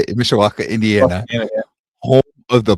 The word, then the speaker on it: Mishawaka: Mishawaka, Indiana.